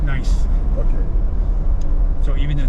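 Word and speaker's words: gneiss: oh okay oh okay g-n-e-i-s-s that's how it's spelled okay but it's pronounced nice okay so even a nice one okay here's Roosevelt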